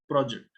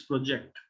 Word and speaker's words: project: So in a word like project, when it is a noun, the stress is on the first one, project. But when it is a verb, it's project. So what do you project? And the project is on track.